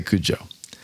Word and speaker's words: Cudjoe: Big arguments on how to pronounce that thing. Cudjoe. I'd say Cujo. Some people say Cujo.